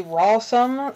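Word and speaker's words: Rawsome: a website called perfectly Rossum kind of spelled like the word awesome except with an R at the beginning comm they have a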